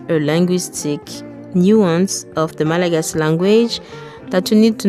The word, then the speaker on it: Malagasy: English speakers often say Malagasy, but locals say Malagasy. Hear that? The final Y is just a whisper.